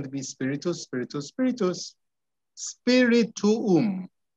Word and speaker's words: spirituum: be spiritus, spiritus, spiritus, spirituum. Don't forget, we always need to pronounce each vowel, okay? So it's spirituum, spirituum.